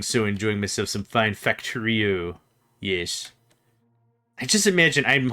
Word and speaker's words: Factorio: Is that how I pronounce it? Factorio. Factorio. That's how it is.